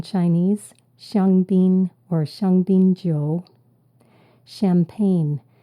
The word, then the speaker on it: champagne: shangin or shangin Jo champagne we pronounce it as a shsh sound but it starts with a CH champagne word number six close